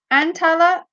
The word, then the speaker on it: Antalya: Antalya is how you pronounce it.